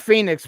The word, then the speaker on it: Fenix: Immortals of AVM no it's Phoenix R it's pronounced Phoenix but it's spelled fix fix okay so Fenix